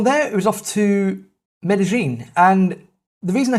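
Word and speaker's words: Medellín: j sound in argentina it's a cha in spain as you probably know already it's a yeah but in colombia it's a ja so rather than it being medellin it is or should be pronounced as medellin we're a bit apprehensive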